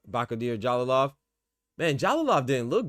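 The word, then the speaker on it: Bakhodir: If Apataya goes to heavyweight, give him Jalalov, Bakodir, as how you pronounce Bakodir Jalalov.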